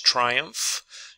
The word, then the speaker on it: triumph: We have the PH that sounds like F in English. Triumph.